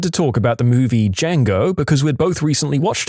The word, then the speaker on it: Django: I looked at her and said, "The D is silent."